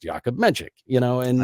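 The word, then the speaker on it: Jakub Menšík: he kept telling people his name was yakob menik because he didn't think they would be able to pronounce yakob menchik you know and it's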